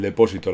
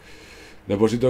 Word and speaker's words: depósito: Depósito de combustible y... Vale. Vamos a comprar el depósito. Depósito. Vaya. A que tiene el acento en la O.